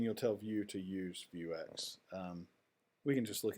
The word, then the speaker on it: Vuex: global State and that's where you bring in view X which is uh spelled like that view X and it is uh